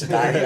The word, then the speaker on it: satiety: So like at work, my macronutrient composition of my meals focuses on like long-term feeling of fullness, satiety. Is that how you say it? Yep. It's satiety.